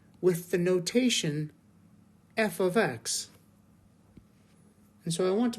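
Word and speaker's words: f(x): Y with the notation f of X and so I want to point out first of all that in this notation right here f parentheses X parentheses is pronounced f of X that's how we say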